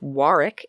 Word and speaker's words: Warwick: Fun fact, Warwick, Rhode Island is pronounced Warwick, England in Warwickshire.